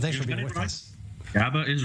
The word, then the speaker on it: GABA: I'm not sure how you pronounce it there, Dr. Nutt, but thanks for being with us. GABA is right.